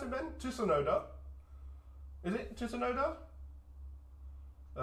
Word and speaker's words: Tsunoda: How do you pronounce it, Ben? Tsunoda.